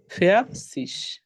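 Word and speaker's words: vierzig: ফেয়ার সিজ হবে সিস ফেয়ার সিস ও আচ্ছা আর রটা উচ্চারণ হবে তখন মানে র এই যে দেখেন সবসময় র এর একটু উচ্চারণটা একটু অল্প করার চেষ্টা করেন ফিয়ার সিস ওকে এই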